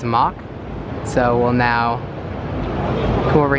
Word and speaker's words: Mach: Although I did say Mac earlier, I believe the proper pronunciation of the coaster manufacturer is Mach.